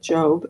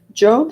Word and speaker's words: Job: Even though it's spelled Job, I think it's you say it like Job.